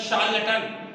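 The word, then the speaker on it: charlatan: शार्लटन, शार्लटन ये दूसरी language से आया है, इसलिए हम इसको शार्लटन नहीं पढ़ रहे हैं। एक्चुअली दूसरी इंग्लिश वर्ड इंग्लिश में आते हैं, इंग्लिश की बहुत सारी लैंग्वेज का मिक्सचर है। ये वर्ड फ्रेंच से आया है इंग्लिश में, तो इसका प्रोनाउंसिएशन होता है शार्लटन।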